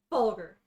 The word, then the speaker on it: Vulgar: to talk to vulgar vulgar yes the best part of waking up yep just a hard g he's my lieutenant lieutenant